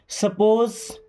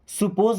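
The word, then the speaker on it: suppose: सपोज this is a watch. देखिए, इसे क्या पढ़ते हैं? सपोज। सुपोज नहीं पढ़ना है कि सुपोज पढ़ें, क्या पढ़ेंगे? सपोज।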